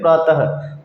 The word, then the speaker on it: प्रातः: ठीक है, जब हम इसको उच्चारण करेंगे तो कैसे करेंगे? प्रातः, बाद में शब्द के ह की ध्वनि आएगी। ठीक है दोस्तों, अतः और स्वतः आदि।